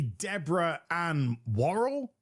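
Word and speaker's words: Deborah Ann Woll: Uh that's actually meant to be Deborah an Warl. It looks just like is how you pronounce her name.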